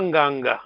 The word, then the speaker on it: nganga: On ne dit pas nganga. Comment est-ce qu'on prononce à Gikongo, alors? Nganga. Pardon? Nganga. Très bien. Nganga.